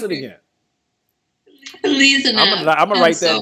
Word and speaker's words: Elezanumab: pronounce it again. Elezanumab. I'm going to write that down. Elezanumab.